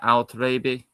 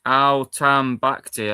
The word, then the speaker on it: Al-Tambakti: So is that how you say it? Al-Taribi? No, it's not. It's Al-Tambakti.